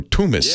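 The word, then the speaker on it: Toomas: But thank you to Thomas Ilves, or Tumis, as he pronounces it.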